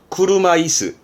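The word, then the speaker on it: 車椅子: 발음은 구르마이스.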